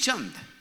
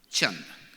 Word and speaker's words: Chand: My name is Chand. Chand. Like that's the pronunciation of my name, Chand.